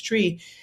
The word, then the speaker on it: Twi: language is is Twi, spelled Twi, it's spelled Twi, people say Twi, but it's Twi.